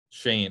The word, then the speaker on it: Schoen: So, like, is it Schoen? Is that how you pronounce his name? Shane. It's confusing. Shane. Okay.